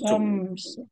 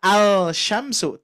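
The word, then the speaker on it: الشمس: Maka dari itu, lam ini ada tapi tidak dibaca. Maka terjadilah bacaan asyamsu. Asyamsu. Nah, ya. Jadi bukan al-syamsu, tapi asyamsu.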